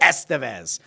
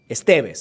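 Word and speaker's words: Estévez: hold on a second I thought it was Estes no EST why do we know that well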